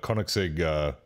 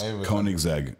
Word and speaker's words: Koenigsegg: It kind of looks like the Koenigsegg. Is that how you pronounce it? Is Koenigsegg?